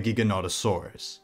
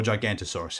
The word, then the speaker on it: Giganotosaurus: of the South Americas the Giganotosaurus or gigantosaurus however you want to pronounce it forget about Mega theropods